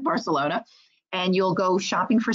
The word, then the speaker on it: Barcelona: the marketplace for example like in barcelona as they pronounce it barcelona and you'll go shopping